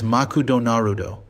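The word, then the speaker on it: マクドナルド: To solve this, the name was adapted into the katakana script as Makudo Narudo. This made it pronounceable and approachable.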